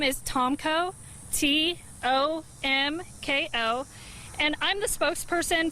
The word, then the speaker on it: Tomko: That's spelled. Last name is Tomko, T-O-M-K-O, and I'm the spokesperson for the 3rd Infantry Division.